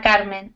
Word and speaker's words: Carmen: pronouncing your name correctly ah Carmen yes is correct ah Carmen okay car yes yeah I didn't see the N at the end it looks like it's just K because it's um I'm I'm